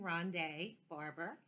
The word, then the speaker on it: Ronde Barber: found out how to say his correct name Ronde Barber we read teammates and I didn't realize it